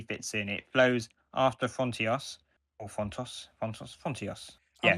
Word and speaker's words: Frontios: pronounce it thing again. It's Frontos, definitely Frontos.